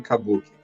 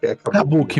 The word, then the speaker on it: Kabuki: Qual que é a pronúncia certa que eu posso usar? Pode falar Kabuki. Kabuki mesmo, perfeito.